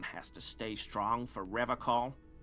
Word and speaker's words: Revachol: I've been tempted on occasion, but someone has to stay strong for Revacol. That's a different way of pronouncing it. I've never heard anybody pronounce Revachol like that.